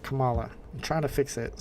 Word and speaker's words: Kamala: out she's married Bro too so like some Kamala Kamala Kamala not Kamala I'm trying to fix it so that I pronounce it correctly but like I said I